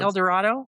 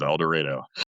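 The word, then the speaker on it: Eldorado: A lot of people don't actually know how awfully Oklahomaans pronounce El Dredo. El Dredo. Yes, it is. El Dorado. It is El Dredo.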